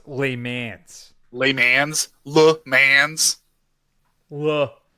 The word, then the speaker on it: Le Mans: their own game, especially culminating in the 24-hour Le Mans race in France. I think it's pronounced Le Mans.